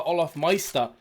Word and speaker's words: Olafmeister: There is the Olafmeister.